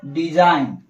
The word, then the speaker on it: design: एन के पहले आया हुआ जी प्रायः साइलेंट होता है।